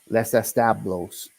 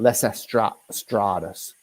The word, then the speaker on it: Los Establos: the guy first off I say it wrong it's Les establos and I've been saying Les EST strus okay you know me